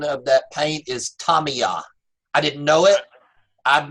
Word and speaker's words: Tamiya: something I learned this past week the correct pronunciation of that paint is Tommy ah I didn't know it I've been pronouncing it